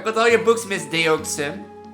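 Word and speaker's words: Deauxnim: Dunham. Dunham? Dunham. So it's Elise Dunham. I would never have thought of that. Dunham. So the X is silent.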